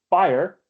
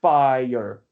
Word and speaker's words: fire: Do you want this to be fire, one syllable, or fire, two syllables? And both are valid, depending on your thing, right?